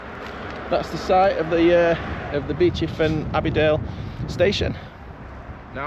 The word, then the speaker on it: Beauchief: It looks like Beauchief, but we live around here and it's Beauchief. Then it renamed to Beauchief and Abbey Dale.